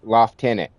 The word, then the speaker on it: lieutenant: And where is the F that in in in the word lieutenant that the British people call it loft tenant?